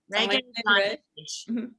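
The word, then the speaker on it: Regé-Jean Page: Sorry, I think it's Say his name again. Rege-JeanPage. Yeah, pronounced Rege. Rege-JeanPage. JeanPage.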